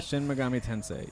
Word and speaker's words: Shin Megami Tensei: to be a shin is it shin megami is how they say it shin megami shin megami tensei young you cross fire